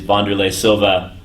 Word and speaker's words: Wanderlei Silva: He is Wanderlei Silva. I finally pronounced his name right.